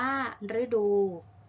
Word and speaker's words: ฤดู: ที่ ออก เสียง รื้อ เช่น ฤดู อ่าน ว่า ฤดู ฤทัย อ่าน ว่า ฤทัย พฤกษา อ่าน ว่า พฤกษา